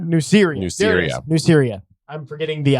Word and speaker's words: Nuceria: I believe that's how they pronounce it. Oh. Nike, Nuceria? Nuceria. Nuceria. There it is. Nuceria.